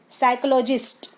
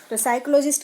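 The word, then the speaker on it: psychologist: है थे fourth साइकोलॉजिस्ट यहां पर पी नहीं बोलेंगे हम 30 साइलेंट है साइकोलॉजिस्ट साइकोलॉजिस्ट का ज्ञान क्या होता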